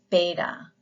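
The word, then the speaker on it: βῆτα: The next letter is beta, B, as in ball.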